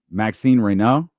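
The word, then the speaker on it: Maxime Raynaud: and he said it and because I didn't practice it, I'm probably gonna say it wrong, but I believe it's Maxine Reno.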